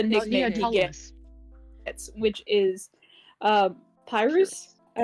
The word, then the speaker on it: Pyrrhus: So we'll go by what he called, what the nickname he gets, which is Pyrrhus. Pyrrhus. Like Pyrrha, but Pyrrhus, which I thought was funny.